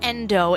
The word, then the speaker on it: NDU: Sitting in tonight with local hip-hop artist Endo is my full name. Awesome. And then in terms of a stage name, you actually took the first three letters of that. It's a NDU, pronounced Endo.